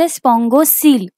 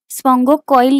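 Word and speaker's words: spongocoel: आपण म्हणतो स्पंगोसल ओके याच स्पेलिंग थोड डिफरंट आहे प्रोनन्सिएशन याच वेगळ आहे ओके ्याला म्हणायच स्पंगोसल स्पो कॉईल नाही म्हणायच ओके स्पोसल म्हणजेच काय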